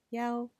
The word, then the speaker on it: 一: For example, hi in some cases is spoken as Juan or e the number one is spoken as yao if it is part of a sequence of numbers like a phone number.